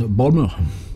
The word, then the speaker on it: Baltimore: Baltimore. Déjà, ça commence là, tu vois, moi, le mot. Je sais même pas le prononcer quand t'es aux US. Balmer.